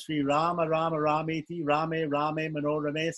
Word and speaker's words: Rama: But there's this mantra that says that this holy name of Rama, these two syllables, Ra, long R, long A, M, short A, Rama, is equal to the whole 1,000 names of Vishnu.